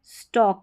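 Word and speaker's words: stalk: और यह है स्टॉक। यहां पर भी एल साइलेंट है।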